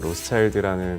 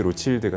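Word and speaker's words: Rothschild: 로스차일드라는 가문이 이제 그 1868년에 그 라피트를 이제 인수를 하면서 이제 라피트 로칠드가 되는 거죠. 로칠드는 이제 로스차일드의 이제 프렌치식의 발음이기 때문에 이제 라피트 로칠드라고 이제 주로 발음을 하는데요.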